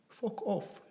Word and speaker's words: Fokof: How to say, fuck off. Fokof, yeah, pretty easy.